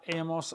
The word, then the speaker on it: hemos: Now the present tense, verb number 3 of haber, is has, hemos, han. Remember the H is silent, but in written form you must have the H.